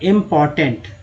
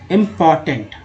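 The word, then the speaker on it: important: इम्पॉर्टेंट, आर का उच्चारण नहीं करना है, मतलब लिखने में है, बोलने में बहुत ही नगण्य, बहुत ही कम रखना है। इम्पॉर्टेंट।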